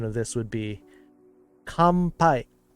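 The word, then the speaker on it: 乾杯: the letter N this letter N gets pronounced like m in front of a b m or P letter in front of it so technically the pronunciation of this would be compai like a MP coming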